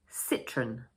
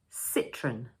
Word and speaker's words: Citroën: So we pronounce it as 2 syllables, and for the first one, we say sit.